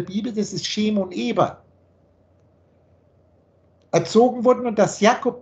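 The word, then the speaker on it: עברי: Eber ist übrigens der Hebräer. Da gehen wir dann weiter unten rein. Das ist das hebräische Wort Eber Ivri, wird es dann im Modernen ausgesprochen.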